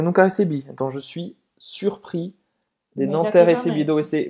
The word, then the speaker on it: surpris: Você não vai pronunciar o S no final, mas para uma mulher tem o som do Z.